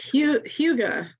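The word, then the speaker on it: hygge: You'll have to say it. It's Huga.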